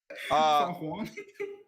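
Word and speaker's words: Fenghuang: Feng Huang? That's how it's pronounced.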